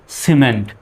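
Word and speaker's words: cement: ইটা কিন্তু এখানে আছে সুতরাং এখানে সি এর উচ্চারণ কিসের মত হবে দন্তস বা ছ এর মতো হবে তাহলে সি ইয় সি এম ই এন টি মেন্ট তাহলে হয়ে গেল কি সিমেন্ট সি এর পরে যেহেতু ই আসছে এজন্য সি এর উচ্চারণ কিসের মত সর মত হবে এখন আর কিমেন্ট বলা যাবে না সিমেন্ট দ্বিতীয় শব্দটা দেখুন সি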